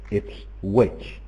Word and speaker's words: Ipswich: That one team is pronounced Norwich, where the W is mute, and another team is pronounced Ipswich, where you can hear the W.